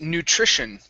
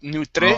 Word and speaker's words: nutrition: Next up is nutrition. Give me a good TR here instead of nutre. Okay. Nutrition, it's Nutrition.